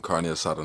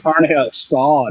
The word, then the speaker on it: carne asada: I just ate some carne asada nachos, man. Yeah, I think Mac is really sus when you think about it. Mac, you said it wrong. It's carne asada, dude.